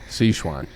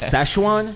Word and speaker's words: Sichuan: it's Szechuan. Szechuan. Szechuan. All right, it's spelled Sichuin. So UAN, and you can see why I would pronounce it Sichuan because there's an I, not an A.